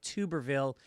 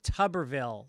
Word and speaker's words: Tuberville: idiot senator's name like tuberville it's pronounced tuberville like tub of shits oh Michael mulroy little